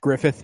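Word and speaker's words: Gruffudd: r u FF u d d and it's pronounced Griffith remember we were like what the [ __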